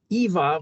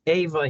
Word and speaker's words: Eva: So the name of the lady that wrote the book is, I'll say it Greek, Eva, but although she may pronounce it Ava here, Poumpouras.